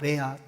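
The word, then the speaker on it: רֵעַ: 친구라는 단어가 히브리어로는 그 레아라고 말해요. 레아. 야곱의 아내 중에 레아라는 아내가 있잖아요. 그 발음하고 똑같아요.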